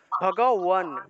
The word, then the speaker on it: ভগবান: ঠিক আছে, তাহলে ভগবান যেহেতু, তাহলে ভগবান শব্দের সংস্কৃত উচ্চারণ হবে ভগওয়ান, অর্থাৎ ওয়া ওয়া উচ্চারণটা আসবে, কারণ এখানে আকার আছে।